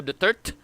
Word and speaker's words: Duterte: That's not Rodrigo Duterte. That's Rodrigo Duterte. Because the narration is Rodrigo Duterte.